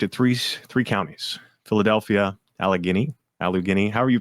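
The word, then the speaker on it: Allegheny: Philadelphia, Alagini, Alug Guini, however you pronounce it. I can't pronounce it correctly and everyone makes fun of me. Alagany like Alagany. There you go.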